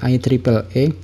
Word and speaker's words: IEEE: Dimana yang pertama itu ada IEEE atau kita bacanya adalah IEEE.